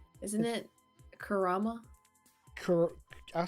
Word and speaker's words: Kurama: said I think you said Naruto's um beast's name wrong isn't it Kurama Kur I'll say Kuma Kurama isn't that Kurama it's the ninetail fox see